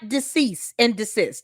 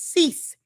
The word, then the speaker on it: cease: It's not dece. It's cease and desist.